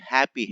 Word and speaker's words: happy: Happy. H is not silent.